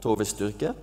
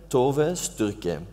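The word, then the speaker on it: Tove Styrke: But if you pronounce it phonetically, it might be Tove Sturk.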